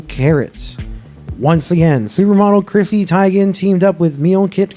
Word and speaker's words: Teigen: Most people say Teigen. She pronounces it Teigen.